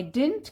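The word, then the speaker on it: didn't: आई am sorry I डिडंट catch your name. D silent बताया था, आई डिडंट catch your name, माफ कीजिए मैंने आपका नाम नहीं सुना।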